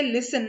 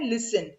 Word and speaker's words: listen: We say listen, not listen. हम listen बोलते हैं? नहीं, हम बोलते हैं listen. So this T is also silent.